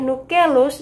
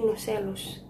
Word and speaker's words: nucellus: Pada tahap ini, bakal biji terdiri dari kantung embrio diapit oleh nucleus dan 1 atau 2 integumen. Itu melekat pada dinding karpel oleh tangkai funiculus. Mohon maaf, itu bacanya bukan nucleus tapi nucellus.